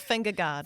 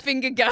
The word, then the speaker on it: Vingegaard: Not finger guard. Vingegaard.